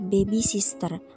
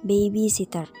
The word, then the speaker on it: babysitter: kedua itu ada babysitter Biasanya kita menyebut orang yang mengasuh bayi dengan kata bebisister padahal penyebutan yang benar adalah babysitter diambil dari kata baby